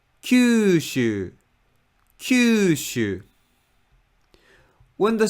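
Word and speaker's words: 九州: Japanese fish accent and when the stress is placed at the first Mora of a word then pitch just Falls Kyushu cue shoe when the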